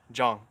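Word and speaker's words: Jang: Oh, is that how it's pronounced? Yes, oh, wow. Yes, I've been wanting to correct many people on that. Yeah, I lived in Korea for a couple years. My wife's Korean, so she told me that is how you say it.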